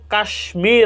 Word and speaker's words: কাশ্মীর: আরেকটি শব্দ হলো কাশ্মীর, আমরা পড়ি, এখানে সংস্কৃত রীতিতে উচ্চারণ হওয়ার কথা ছিল কাশ্মীর, কিন্তু আমরা শব্দটির উচ্চারণ করি কাশ্মীর।